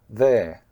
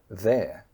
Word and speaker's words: they're: It's not "they-r". It's not two words pushed together very closely "they-R", no, it's "they're". It's the same pronunciation as over "there".